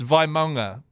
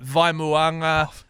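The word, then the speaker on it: Vaimauga: It's Vimonga. It is Vimonga. Y everyone's like Vimuanga. Vga Vmega. Valmega. Valga is my favorite. Vimega. So it's Vimonga.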